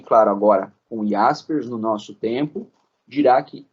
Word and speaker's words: Jaspers: Karl Jaspers. Se escreve Jaspers. A gente fala aqui Karl Jaspers, né?